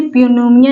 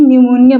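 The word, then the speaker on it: pneumonia: पर प साइलेंट है यहां देखिए प नोमिया नहीं न्यूमोनिया बोला जा रहा है क्योंकि पी साइलेंट है एन के पी के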